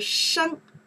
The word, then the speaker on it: 生: We pronounce the sheng, okay?